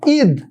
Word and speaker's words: ঈদ: আমি কি বললাম বলো ঈদ অথবা ইগল আমি যদি বলি ইগল অবশ্যই এটা উচ্চারণের ক্ষেত্রে কি হয়ে যাবে ইগল কি হয়ে যাবে বলো ইগল তার মানে হচ্ছে দীর্ঘই উচ্চারণে বসে না ঠিক একইভাবে দীর্ঘ উ